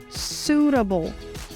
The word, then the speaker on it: suitable: E nós falamos suitable. Suitable. Ou ainda suitable. Suitable. Pode perceber que aqui a letra T ganha esse som do R, desse R seco para nós no português, do arara. Suitable.